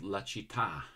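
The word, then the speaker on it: La Città: It's called La Citta.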